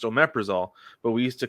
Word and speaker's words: omeprazole: It's pronounced omeprazole, but we used to call it omeprazoles because of how it's spelled.